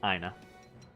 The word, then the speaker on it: Iena: Picking up some of the Iena bowmen, which again, or if this were Latin pronunciation, be Aina.